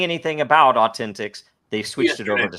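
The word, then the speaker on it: AU10TIX: It's pronounced Authentic is an Israeli company that was doing all of the biometric KYC and everything else on X.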